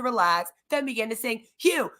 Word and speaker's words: HU: then begin to sing phew pronounce like the word Hue in a long drawn